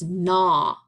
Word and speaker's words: gnaw: weird strange word it's nah so the G is silent you gnaw on something